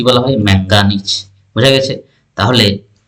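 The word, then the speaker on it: manganese: উপর এজন্য দেখো ম্যাগনেসিয়াম আর যদি বলি ম্যাঙ্গানিজ এখানে এন এর উপর পড়ছে এজন্য ম্যাঙ্গানিজের সংকেতটা কি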